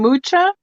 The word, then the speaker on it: Mucha: Alfonso Mucha, not Muca. That's bad.